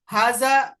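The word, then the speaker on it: هذا: মানে এটা লেখা হবে এভাবে, কিন্তু উচ্চারণ হবে হাজা, অর্থাৎ হার পরে একটা আলিফ থাকবে। তাহলে হাজা শব্দটা লেখার মধ্যে হার পরে আলিফ থাকবে না, তবে উচ্চারণের মধ্যে হার পরে কি থাকবে, আলিফ থাকবে।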